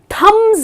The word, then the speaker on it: thumb: got to correct them the correct pronunciation is thumb the letter B is silent and then the last